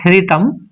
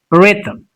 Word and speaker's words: rhythm: It's not rhythm. It's rhythm. So here h is silent.